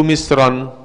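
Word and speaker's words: مصرا: Kembalilah atau pergilah kalian ke Misron. Ini kalau tanwinnya dihilangkan bacanya jadi apa Bu? Misro.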